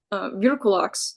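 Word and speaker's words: vrykolakas: So I think what Stoker might have been referencing is in the Greeks, the Virkulox, I believe is how it's pronounced, which does seem to be a little bit of an influence for him.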